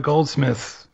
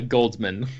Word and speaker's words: Goldsman: It's a neat concept, but yeah, Akiva Goldsmith or Goldsman. What is his name? Goldsmith or Goldsman? Goldsman. Yeah, I think I mispronounced his name.